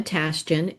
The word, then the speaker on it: Tashjian: Uh my name is Donna Tasten and it is easier than it looks to pronounce.